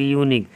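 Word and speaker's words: unique: यूनिक, यूनिक का उच्चारण देखिए वॉवेल से है, लेकिन इसका उच्चारण कैसे लिखेंगे हम लोग? यूनिक। इसकी शुरुआत किस चीज़ से है? य से है।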